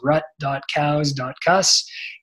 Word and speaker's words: Rutkauskas: grants for couscous comm my Instagram is how you pronounce my last name it's rutkowska and Twitter so I